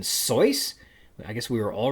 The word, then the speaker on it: Seuss: the icy hot commercials apparently Dr Seuss's name rhymes with voice as in soyce I guess we were